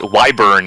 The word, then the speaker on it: wyvern: Chad informs me that wyvern is the correct pronunciation.